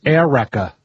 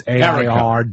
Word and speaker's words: Erica: Like one is Erica, which is Erica, but it's AIRWRECKA. That's not a joke. Yeah. Or Ladasha. Whoever named her thought Erica was spelled phonetically, air and then Rekka, like a wreck.